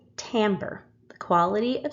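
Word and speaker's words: timbre: expanding combining sound waves now this is a word that some of you are probably going to automatically pronounce wrong this is called tamber the quality of sound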